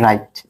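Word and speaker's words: write: কিভাবে দেখো, ডব্লিউ আর আই টি ই, এটাকে কি বলি আমরা? ও রাইট, জাস্ট কি বলি? রাইট, একেবারে রশি রাইট, ডব্লিউ বাদ।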